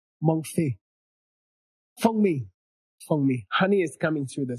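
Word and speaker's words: 蜂蜜: Fengmi.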